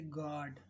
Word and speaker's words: guard: जैसे गार्ड, गार्ड, GUARD spelling होती है, जिसमें आप GUA प्रोनाउंस नहीं हो रहा।